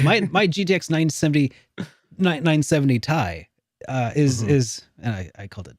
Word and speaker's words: Ti: last gen and also uh not even top tier how does that compare to my gtx 970 a lot better but that's beside the point okay because i cause i'm like my gtx 970 970 tie uh is is and i i called it